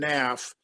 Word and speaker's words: Knaff: your first name okay my name is naff naf is spelled k-n-a-f-f what's your agency it's called talent